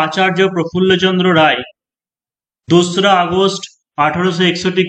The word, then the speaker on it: আচার্য: কিন্তু কিছু কিছু বানান যেমন আচার্য, ঠিক আছে, আচার্য বা হচ্ছে আচারিয়া এরকম উচ্চারণ হয়, ACHARYA।